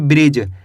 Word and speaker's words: bridge: BRIDGE इसे पढ़ेंगे ब्रिज, क्या पढ़ेंगे ब्रिज। इसके अंदर डी साइलेंट कैसे पढ़ेंगे ब्रिज।